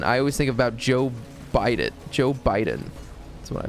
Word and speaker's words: bidet: day I almost wow you know how singer pronounces that word bidet he says bite it and I almost just